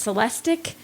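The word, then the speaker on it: Celestiq: already said it's lyric you've already said it's celestic so if you do the ick is how you pronounce that ending it's going to be the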